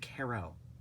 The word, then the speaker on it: Carell: role in it um or is it Carol I think it's actually pronounced Carol Steve Carell yeah does a great